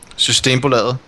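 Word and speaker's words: Systembolaget: because I'm not even going to try to pronounce their team name anymore. Except Root knows how to do it. Go for it. Systembo Laget.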